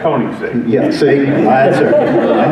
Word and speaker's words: Koenigsegg: You threw that in to see if I could pronounce it. Yeah, it's Koenigsegg.